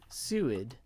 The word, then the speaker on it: Seward: accent yeah rebel zed says like steward without the t yep she what oh